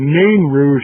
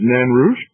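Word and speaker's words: Nain Rouge: fact it's the um the nan rouge or the name rouge as some people call it but okay the french pronunciation is nanrush that takes place in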